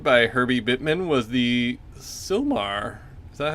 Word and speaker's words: Sylmar: the earthquake predicted by herby Bittman was the Sylmar so how you pronounce that how do you say it so